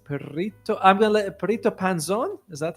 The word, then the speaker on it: Perrito Panzon: I'm going to let PTO Panzone. Is that how it's pronounced?